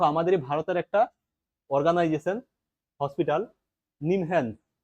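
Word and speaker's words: NIMHANS: ভারতের একটা organisation hospital নিমহ্যান্স একে উচ্চারণ করলে নিমহ্যান্স বলা হয় ন্যাশনাল ইনস্টিটিউট অফ মেন্টাল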